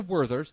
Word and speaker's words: Werther's: warters yes a word that's how it's pronounced german it's it's a werther's there's an h donnie what's in your